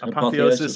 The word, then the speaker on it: apotheosis: the ope apio theosis how do you say that it's just apotheosis of George Washington in